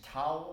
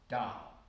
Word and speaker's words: Tao: In Chinese pronunciation is Tao or Dao, or Taoism.